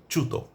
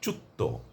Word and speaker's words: চ্যুত: হবে প্রমিত উচ্চারণ হবে অনেকেই বলে ফেলেন চাকুরি চুক্ত এটি ভুল উচ্চারণ একেবারে সম্পূর্ণ ভুল উচ্চারণ এটি করা যাবে না। আমাকে যদি খানিকটা জোর দিতে হয় সেটা দিতে হবে চ এর উপর।